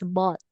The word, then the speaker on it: bought: So, this is bought. Bot. Bot. Very good. Okay. So, silent letter H.